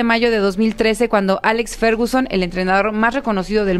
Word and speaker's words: Ferguson: Para aquellos que, al igual que yo, no saben quién es Ferguson, él fichó a talentos como Eric Cantona, Cristiano Ronaldo y Wayne Rooney. ¿Sí se pronuncia así, Fer?